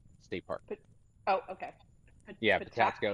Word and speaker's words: Patapsco: Yeah, Patapsco. How do you say it? Patapsco. Patapsco.